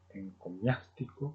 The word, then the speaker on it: encomiástico: en cosmiático, lo en encomiástico, el término parecido a eclesía y económico, encomiástico con acento en en la a es alguien que alaba,